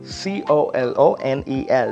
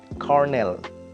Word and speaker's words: colonel: is Cornell right understand don't go by the spelling of it c-o-l-o-n-el would usually um you know pronounced should be pronounced like Colonel or something like that but it's not that it's Cornell next one would be